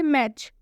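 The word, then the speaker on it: match: मतलब होता है अक्सर एक और एग्जांपल देखिए मैच मैच के लास्ट में आया है टी सी एच जैसा कि आपको रूल में बताया गया है आप देख सकते हैं यहां पर टी सी एच आएगा तो उसमें टी का उच्चारण नहीं होगा तो मैच के एंड में आया है टी सीच इसलिए हम मैच में टी का उच्चारण नहीं करेंगे मैच का मतलब होता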